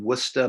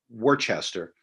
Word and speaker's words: Worcester: rights Convention held in wora Massachusetts pronounced it looks like Worchester or Worcester but they just pronounce it w They smash the syllables together and so another event